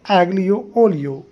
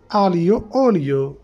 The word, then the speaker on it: Aglio olio: let's pronounce ago oio in English we pronounce ago oio but in Italian we pronounce alo oio alo oio alo oio